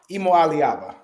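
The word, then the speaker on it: Iamaleava: Emo Aliaba.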